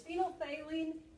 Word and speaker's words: phenolphthalein: It's called phenolphthalein. Actually, it's phenolphthalein. I say say help me spell it. All right. Say it phonetically. All right, it's phenolphthalein, and it turns pink in a basic solution.